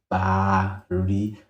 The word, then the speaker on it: Baari: e r i and the proper pronounce iation for my name is bar exactly pronounced how it is written it is bar so it is no